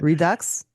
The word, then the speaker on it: Redux: 80s redo yes yes Redux is is actually how I think it's pronounced but Redux yes I kind of